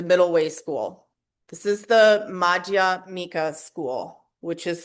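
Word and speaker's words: Madhyamika: This is the Maja Mika School which is spelled M A D H Y A M I K A.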